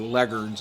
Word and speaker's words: Leghorns: Things like white leghorns, it's actually leghorns is how you're supposed to pronounce it.